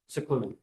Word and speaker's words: Sicluna: Sicluna. Okay, it's pronounced as if it was S I C.